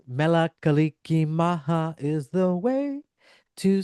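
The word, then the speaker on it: Mele Kalikimaka: And if you don't know how to say it, it's Mela Kaliki Maha is the way to say Merry Christmas in Hawaii. Yep. Mela Kaliki Maha.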